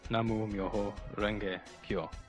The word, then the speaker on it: Namu Myoho Renge Kyo: The chant is the Daimoku, pronounced Namu Myoho Renge Kyo.